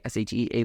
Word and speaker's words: Shea: Kicks by Shea. That's all my stuff. Kicks KICKSBYSHEA SHEA like the butter.